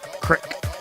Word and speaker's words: creek: she said crick. She pronounced creek, crick.